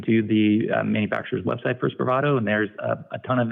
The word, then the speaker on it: Spravato: How do you pronounce that? Spravato, SPRAVATO.